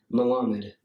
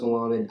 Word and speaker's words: Malamed: How is it actually pronounced? How it's actually pronounced? Yes. I'm not going to laugh. I don't judge. You know that. I don't care about your judgment. You can judge it. I don't give a shit. Malamed. Okay, cool. It is Malamed. That's actually how I thought it was pronounced. It's literally pronounced Malamed. I hate saying it the